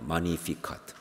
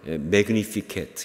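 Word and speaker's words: Magnificat: 그런데 이게 라틴어로 바로 마니피캇이라고 하는 말입니다. 마니피캇. 영어로 말하면 매그니피켓 이렇게 말하죠. 좀 스펠링이 다르니까. 근데 라틴어로는 마니피캇. 캐톨릭에서도 지금도 마니피캇. 그리고 영어로 말하면 매그니피켓 이렇게 말합니다.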